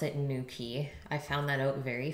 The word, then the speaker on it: Newquay: nuke way though with a Q but they pronounce it in Newquay I found that out very fast and I